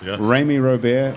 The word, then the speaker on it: Rémy Robert: Rémy Robert is Chef here, Life. whose name rhymes with Amy Snowbear, I see on.